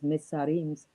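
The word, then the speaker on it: Mitzrayim: So how can we include that into the Adam when it was Mitzarim's? It was I pronounce it Mitzarim because of the Hebrew thing.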